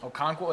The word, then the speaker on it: Okonkwo: Okonkwo, is that how you Yeah, say it?